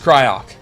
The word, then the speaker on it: Cryoc: And nobody disagrees on how you pronounce Cryoc. It's just Cryoc.